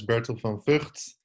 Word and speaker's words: Bertil van Vugt: My name is Bertil van Vugt. Almost correct pronunciation. It's just a G that is maybe a little difficult for you guys to pronounce.